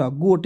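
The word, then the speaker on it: goat: जी से ग लिखेंगे, ओ से ओ की मात्रा, टी से ट, गोट, जी ओ ए टी, गोट माने बकरी।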